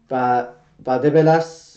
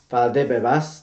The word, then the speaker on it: Valdebebas: So Real Madrid players start going to Valdebebas. I keep saying that name wrong. Valdebebas tomorrow for their first test, and everything goes well, they will start training.